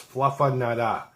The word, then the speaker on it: Fluffernutter: It's spelt with ERs all over the place, but to pronounce it correctly, it's Fluffernutter.